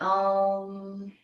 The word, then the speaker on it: Om: And Om is 4 syllables. So it's the first syllable is Ah. Ah merges with Ooh. Merges with merges into silence. So it's an Om.